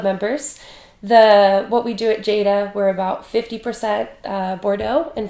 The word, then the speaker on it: Jada: Am I pronouncing that right? Jada? Yes, Jada.